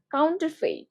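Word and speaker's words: counterfeit: তাহলে এটা কাউন্টারফেইট, কাউন্টারফেইট, কাউন্টারফেইট এভাবে উচ্চারণ করবে, কাউন্টারফেইট।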